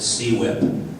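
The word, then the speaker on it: CWIP: piece of legislation called quip and i refer it stands for construction work in progress i prefer to pronounce it c-whip because it sounds more painful because it really really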